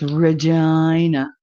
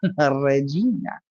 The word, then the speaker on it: Regina: me vagina with Regina it's Regina why why would you PR who would voluntarily pronounce that name like that Regina Regina you gotta roll your RS Regina Regina that's a very